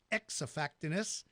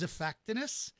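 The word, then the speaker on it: Xiphactinus: but its names is pronounced like the letter Z like we do with the word xylophone as if fact anise starts with an X so it's not X effectiveness it is a fact anise it has incredibly large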